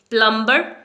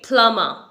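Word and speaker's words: plumber: हम क्या बोलते हैं प्लंबर यह रंग प्रोनंसिएशन है इसे हम बोलेंगे पलमा पलमा यहां पर आपको ब प्रोनाउंस नहीं करना है बी यहां पर साइलेंट है ओके तो इसे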